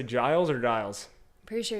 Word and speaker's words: Giles: with rachel you said your last name was dials right giles giles it's okay i get